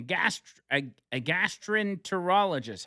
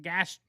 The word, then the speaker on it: gastroenterologist: Michael Levitt, a gastroenterologist. How do you say that? Gastrologist? Gastroenterologist. Oh. Gastroenterologist.